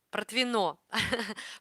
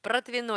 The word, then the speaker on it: Протвино: Протвино. Протвино. Я помню, что ударение, да, на последнюю О.